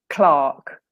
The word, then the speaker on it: clerk: this word no but the word is clerk clerk or in English H sorry British English Clark sounds like Clark K to me yeah that's how you say it in English so that's why the